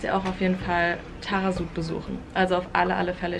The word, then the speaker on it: Taghazout: auch auf jeden Fall Tarasut besuchen. Also auf alle Fälle. Ich schreibe euch mal nochmal den Namen hier unten hin, weil es wird ein bisschen anders geschrieben, als es ausgesprochen wird, deswegen wisst ihr da nochmal Bescheid.